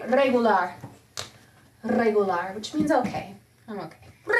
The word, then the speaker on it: regular: Regular, which means okay. I'm okay. Regular. Regular. The lar is the loudest syllable.